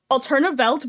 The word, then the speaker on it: Welt: Also, Welt is spelled with 2 V's, but the 2 V's make a W, and the German pronunciation of W is like a V sound.